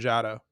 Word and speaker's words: Jado: How do you pronounce their names? Jado? Gedo and Jado.